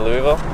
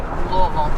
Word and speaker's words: Louisville: Let's see, we're coming into Louisville. Wait, how do you say it correctly? Louisville. Louisville. Louisville. Louisville. Yep. The S is silent.